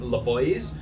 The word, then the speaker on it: Le Boiz: have just launched a swimwear line it's called LA boys which is spelled l-e-b-o-i-z and we're on Instagram at the